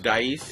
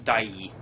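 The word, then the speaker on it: Daiei: It's Dai Studios. Dice? It's Dai. Okay. It's like DEIE. I think it's how it's spelled.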